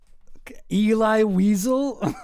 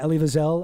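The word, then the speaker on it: Elie Wiesel: Ellie Wiselle. Eli Weasel. Oh jeez, what another uh Candace mispronunciation for the books. But yeah, Ellie Viselle, uh guy who wrote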